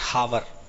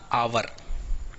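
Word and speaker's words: hour: जैसे देखो आवर, कई लोग इसको बोलते हैं हावर, हावर नहीं, इसका प्रोनाउंसिएशन याद रखना आवर।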